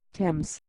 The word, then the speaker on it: Thames: That's pronounced Thames.